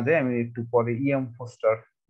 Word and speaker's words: Forster: তো যাই হোক, আমরা সেদিক না যাই, আমি একটু পরে ইএম ফস্টার কে নিয়ে, বানানটা একটু ভালো করে দেখবেন, ফস্টার বানানটা, বানানটা অনেকে ভুল করে, FORSTER, ঠিক আছে, ফরেস্টার বলে অনেকে, ফস্টার বানানটা একেবারে সুন্দর করে মনে রাখবেন, বানানটা যেন ভুল না হয়।